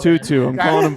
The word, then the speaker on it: To'o To'o: Toa. Come on, Tutu. I'm calling him Tutu. It's easier. Toa.